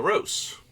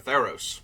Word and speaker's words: Theros: Maybe we'll go back and double check later, but anyway, that brings us to the Theros, or Theros, if you want to pronounce it even remotely correctly.